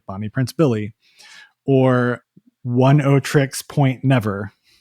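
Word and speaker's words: Oneohtrix Point Never: Bonnie Prince Billy or 10 tricks point never which doesn't doesn't really look like it's spelled Daniel Latitin who you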